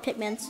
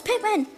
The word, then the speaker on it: Pikmin: the game is then they call it Pikmin like like they're like I need 20 Pikmin and I'm like no it's Pikmin also they spell it